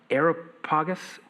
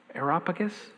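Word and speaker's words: Areopagus: Uh, I always pronounce this wrong. Aeropagus. Aeropagus. Aeropagus.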